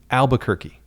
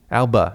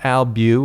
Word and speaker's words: Albuquerque: as they pronounce it albuquerque alba not albu or albu it's alba which i'm on the fence about i kind of like it because it shortens things a little bit just takes the pressure off it's albuquerque but i also i kind